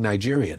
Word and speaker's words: Nigerian: I was like, and so I thought they were mispronouncing Nigerian. I didn't know. Nah, I said, there's only one G. The G is soft.